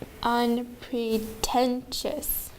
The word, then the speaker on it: unpretentious: And number 14, unpretentious. Unpretentious. There are 4 syllables and the third syllable gets the accent.